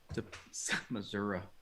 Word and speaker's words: Missouri: Missouri. I have family from Missouri. That's how they say it, I guess.